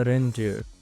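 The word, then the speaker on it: render: रेंडर की जो pronunciation है वो इस तरह से है, ठीक है। यहाँ पर स्ट्रेस है थोड़ा रेंडर, और इसका पार्ट्स ऑफ स्पीच वर्ब है।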